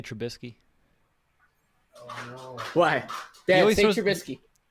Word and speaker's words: Trubisky: i eventually got it but trubisky there's no n say it again okay that was there's no in there yeah now he's gonna